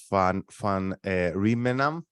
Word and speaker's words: van Rijmenam: We're very happy to have Mark here with us, Mark van Rijmenam. Did I pronounce this correctly?